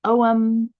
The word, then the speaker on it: Ogham: it is the OM this is spelled o g h m and it's pronounced om and it's an ancient